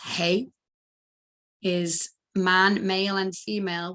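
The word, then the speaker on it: ה: So the hey, or the ha, pronounced hey, is man, male and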